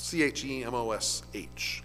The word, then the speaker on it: Chemosh: At least I think that's how it's pronounced. C-H-E-M-O-S-H.